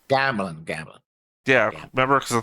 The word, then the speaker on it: Gamlin: once and I can't think of his name Gamlin when he saved gamelin Gamblin Gamblin yeah remember cuz the thing goes right